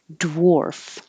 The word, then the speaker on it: dwarf: dw at the beginning this looks like an a but sounds like an o dwarf dwarf smudge in the